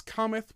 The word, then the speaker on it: cometh: really careful that you don't accidentally emphasize the last syllable of cometh okay because what i